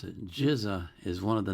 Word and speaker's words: GZA: And he tells me how to pronounce it. GZA is one of the 9 core members of the Wu-Tang Clan.